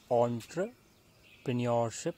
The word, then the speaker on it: entrepreneurship: So we pronounce it as entrepreneurship skills.